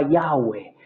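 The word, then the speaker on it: Yahweh: que sonidos vocales llevaba entonces ahí se cree que se pronunciaba yagüe el nombre sagrado de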